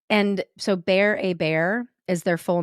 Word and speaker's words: Hébert: hear me go oh they say that is how you pronounce their last name which looks like Hebert so my ding-dong brain